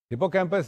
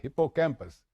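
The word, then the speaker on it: hippocampus: हिप्पोकैंप और hypo कैंपस usually it is pronounced as हिप्पोकैंप एच I double PO सी ए एम पीयू एस हिप्पोकेंपस इज the part of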